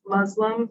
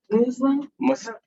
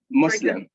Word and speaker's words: Muslim: lot of people say muslim but isn't it muslim it's an s yeah muslim yeah muslim yeah so we pronounce the s we don't say z it's an s that's an s so